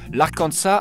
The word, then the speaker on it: Arkansas: on va partir dans un état avec un s à la fin mais où on ne prononce pas le S mesdames messieurs bienvenu non pas dans l'Arkansas mais dans l'arkansa